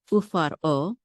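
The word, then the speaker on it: ופרעה: Remember here I said when we say faro, we don't say the resh together because we have the shava. The shava makes us stop. Okay. Ufar, and this makes it a separate syllable, o. Ufar o.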